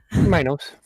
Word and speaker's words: Minos: Minos Minos Minos uh how do you want it to be pronounced my nose minus okay you are very